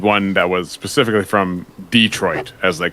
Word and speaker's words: Detroit: So I wanted one that was specifically from Detroit, as they call it. All the foreigners to Detroit call it Detroit. They put the emphasis on the other syllable.